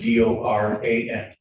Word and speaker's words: Doran: spelling on the last name is and it's pronounced Doran.